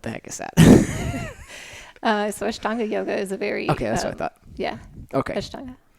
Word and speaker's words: Ashtanga: Yeah, Ashtanga. It's the A, not the I. What the heck is that? So Ashtanga yoga is a very...